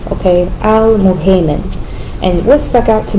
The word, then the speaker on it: Al-Muhaymin: Al-muhaymin. And this, of course, the guardian, the witness, the overseer. The u is pronounced u, and the ay is pronounced a, okay? Al-muhaymin.